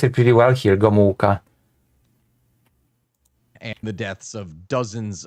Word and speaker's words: Gomułka: Oh, actually, he pronounced it pretty well here, Gomułka.